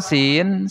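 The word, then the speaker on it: س: Nah, cara pengucapan sin ini tipis, ngucapinnya tipis ya. Beda dengan sod ini. Kalau sin tipis, kalau sod gimana? Tebal ngucapinnya. Nah, antara sin dan sod ini ada sifat yang sama.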